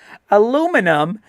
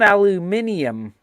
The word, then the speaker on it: aluminum: I can take herb and herb, but aluminum that you guys keep talking shit about, it's not aluminium. That's too many goddamn vowels you're putting in that word.